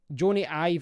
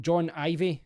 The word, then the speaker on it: Jony Ive: Jony Ive. I used to always call him John Ivey, so I've obviously got his name wrong.